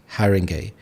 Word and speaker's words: Haringey: Here we have this word Haringey, so we have 3 syllables, Haringey.